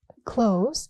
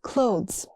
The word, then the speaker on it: clothes: People skip the th, not clothes. It's clothes.